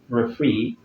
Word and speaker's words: referee: Words ending with this suffix are stressed on the very last syllable. Okay? So we have it in words like PE, referee, volunteer, and many other words like that.